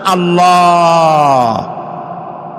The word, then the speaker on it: আল্লাহ: অবশ্যই টেরান এটি আমাদের মনে রাখতে হবে তো আল্লাহ তাআলা তার উপরে আমাদের বিশ্বাস হচ্ছে এই যে